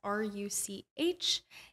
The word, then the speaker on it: Ruch: That's R-U-C-H. And R-U-C-H. I know I say it wrong, but I know. It's pronounced like the chess piece, spelled a little bit funkier.